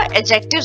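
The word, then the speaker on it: adjectives: एडजेक्टिव्स होता है, डी जो है वो साइलेंट पढ़ा जाता है।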